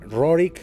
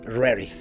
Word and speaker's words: Roerich: platicarles acerca de Nicolás rorick pero también como se debe pronunciar es Nicolás rarey así que bueno pues